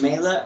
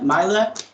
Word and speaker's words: Meyla: for that and um today my guest is mela mila how do you pronounce it okay um go ahead and introduce yourself and uh where you went what years all that stuff so my name is mayla and i went to crosstalk from january